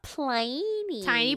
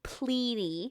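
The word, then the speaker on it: Pliny: remember our buddy uh plyy tiny plyy tiny plyy from our period episode and actually I mispronounced it uh as I've learned from looking at some stuff it's actually pley not teeny py teeny py still fits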